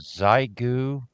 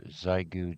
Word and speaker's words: Xiegu: Yeah, it's called the Xiegu G90. The Xiegu G90 and that's spelled with an X.